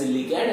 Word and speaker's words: ligand: ligand so this ligand some people will pronounce it as ligand and some will pronounce it as like and there is no issue at all so see these ligands